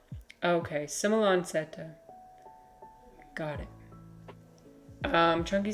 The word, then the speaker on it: semilanceata: It's pronounced like Sim il an seta. Okay, Sim il an seta.